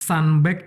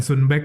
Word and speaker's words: Sunbag: Jadi bacanya Sunbag ya, bukan Sunbag ya? Kadang masih ada yang Sunbak.